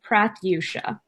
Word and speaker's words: Prathyusha: I don't have business cards with me, but it's Prath, as in rhymes with wrath, and then you and Sha, Prathyusha.